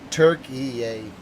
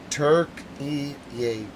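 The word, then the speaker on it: Türkiye: I'm not able to pronounce the version yet. Or Silent Dogs, you're going to have to help me. Turkey yay. Turkey yay.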